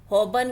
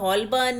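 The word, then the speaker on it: Holborn: हबन underground station पहुंचे हबन को वह हमेशा हलबन ही कहते थे उसके स्पेलिंग ही ऐसे हैं अंग्रेजी के साइलेंट लेटर हमेशा ही उनको परेशान करते हैं हबन से बाहर निकलकर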